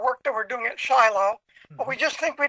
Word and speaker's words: Shiloh: PDFs at uh Tel Shiloh or Shilo as the Hebrew uh folks pronounce it.